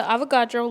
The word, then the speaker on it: Avogadro: came up with the Avogadro's law and other contributions to the identity of an atom farewell chemist of the future we shall meet again and remember Avogadro rhymes with avocado